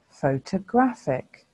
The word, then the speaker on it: photographic: is our last word this word also has four syllables and there are four vowel sounds how many of these do you think are schwa's photographic photographic photographic so how many of